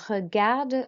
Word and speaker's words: regarde: Okay, so to say I watch TV, we say je regarde la télé. Okay, so regarde, roll your R. Because there's an E on the end, we do pronounce the D.